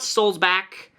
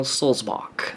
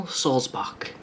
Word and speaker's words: Sulzbach: It's Daniel Solzbach, as in like John Sebastian Bach, like the composer, the musician, Bach. Not Bach, not Buck, not Burger, Daniel Solzbach.